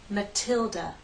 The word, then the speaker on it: Matilda: We have a true T in Matilda. Matilda, T, Matilda. We have the flap T in Natalie.